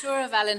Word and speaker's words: Twr y Felin: It's a little hard to pronounce for my American tongue. It's Tour of Ellen Hotel.